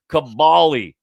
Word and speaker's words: Kaboly: It's Cabali. It's Cabali, says Rick. That's the way it's pronounced.